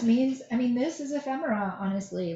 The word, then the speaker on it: ephemera: stampin up does offer ephemera packs that's how you say it ephemera i've heard people really struggle with that word ephemera i've done a